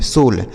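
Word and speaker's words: soul: इसे साउल नहीं, सोल।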